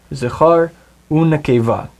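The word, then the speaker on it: זָכָר וּנְקֵבָה: That means the vav before it will actually be pronounced as u. Zachar u nekeva.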